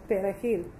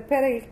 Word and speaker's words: perejil: It was deemed that Asian Creole native speakers found it difficult to pronounce the R in the Spanish word perejil. If the word came out as Asian, Pezil, or a bastardized Spanish version, the victim was condemned to die.